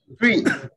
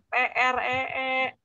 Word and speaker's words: three: Pohon, T-R-E-E, nah, dibacanya tree, itu pohon ya. Kalau tiga adalah three, ya, three, pakai sa. Three, one, two, three, ya. Bisa enggak? Three. Jangan tree ya.